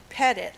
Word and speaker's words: Petett: Pat petett Betsy says their name is pronounced pet it like get it while Betsy grew up